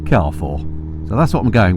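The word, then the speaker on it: Carrefour: called it something like cfor we thought I've would been saying it wrong all these years but of course it is a French Supermarket I looked it up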